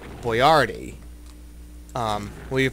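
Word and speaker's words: Boiardi: pronounced with a with the emphasis on the second syllable boardi um well you're pronouncing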